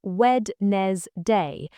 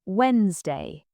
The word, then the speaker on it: Wednesday: People say wed n day, but the d is silent. It should sound like Wednesday.